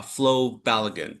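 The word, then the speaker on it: Flo Balogun: Uh Paul, when it comes to uh Flo Balagan, that's how you pronounce his name.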